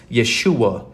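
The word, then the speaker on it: ישוע: or the the pentagramaton which is pronounced Yeshua in Hebrew it's why a s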